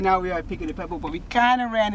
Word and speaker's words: Buca di Beppo: Buca de Beppo.